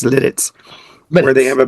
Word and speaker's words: Lititz: We went to Lidditz, which is Lititz, pronounced Lidditz, But where they have a major pretzel place.